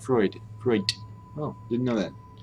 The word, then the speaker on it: Freud: I know many German words ending in D actually end in a T sound, like Freud.